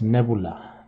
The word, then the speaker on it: Nevula: would like nebula yeah I know the word nebula exists with the other be here but you pronounce this nebula nebula nebula yeah well anyway I